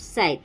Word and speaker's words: scythe: Uh this word has started from s but s is silent. It is called scythe.